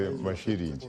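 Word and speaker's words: Masilingi: That is very close to my indigenous tongue. I would say Mashiringi.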